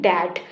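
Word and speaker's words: debt: डीई बीटी को हम लोग कैसे बोलते हैं? दैट। इसमें जो ये बी है ये आपका क्या है? ये साइलेंट है।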